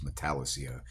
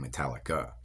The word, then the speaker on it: Metallica: So a dude pronounces Metallicia instead of saying Metallica.